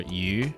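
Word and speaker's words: 魚: Fish, or yu, sounds like the word for abundance, yu.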